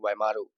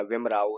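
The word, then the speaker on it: Waimaru: Frames fictional town, this is very important, WAIMAR, वाइमारू या विमराऊ, ऐसे भी आप पढ़ सकते हैं। ए को साइलेंट करके विमराऊ, विमारू, दोनों ही आपका सही है।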